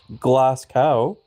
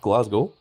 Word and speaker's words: Glasgow: CWard or like CW even Glass Cow, which is not how it's pronounced. It's pronounced Glasgow.